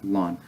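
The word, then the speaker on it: ln: lon of X so you kind of you pronounce this like oh oh and you pronounce it like lon and it stands for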